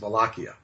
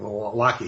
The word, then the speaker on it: Wallachia: The southern part of Romania is Wallachia, with a W, spelled with a W, Wallachia.